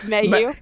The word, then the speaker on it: Mailloux: Let's see if I remember how to pronounce her name. Caila Mailloux? Mayonnaise? Mailloux.